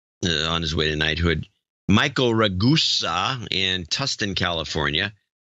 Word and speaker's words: Ragusa: Michael Ragusa in Tustin, California. Its name is pronounced like Vegas.